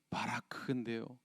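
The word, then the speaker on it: ברך: 굳이 히브리어로 발음하자면 바라크인데요.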